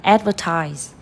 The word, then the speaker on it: advertise: liền trước nhá, sẽ còn thằng này thôi, advertise, quảng cáo, chưa, rồi quảng cáo có thể có từ, có trọng âm 3.